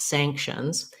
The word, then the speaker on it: sanctions: ship and we imposed sanctions that means the letter n is actually an ng sound so it's like